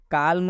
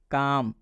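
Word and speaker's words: calm: बता है जैसे में काल्म नहीं पढ़ेंगे हम इसको पढ़ेंगे काम इसमें भी एल के बाद एम आया है इसलिए इस एल का उच्चारण हम नहीं करेंगे काम काम मतलब होता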